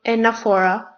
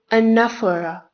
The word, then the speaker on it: anaphora: It is not anaphora. It is not anaphora. It is anaphora. The stress is on the second syllable, nef.